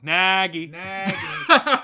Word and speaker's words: Nagy: You said his name wrong. Nagy.